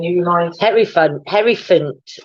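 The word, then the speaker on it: Hierophant: remind me henry fun harry font i think that's how you pronounce it it does sound like elephant it's the hairy fan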